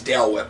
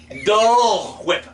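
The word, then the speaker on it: Dole Whip: work like Walmart is I would think it's Dale whip because you just it's Dale weapon are you sure why do you say it like that yeah it's dull whip angel in English flying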